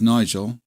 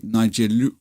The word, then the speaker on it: Nigel: so my name is Nigel that's easy for me to say but my exm mother-in-law Japanese couldn't say my name she would say Niger because there's no it's l something like l so Nigel so um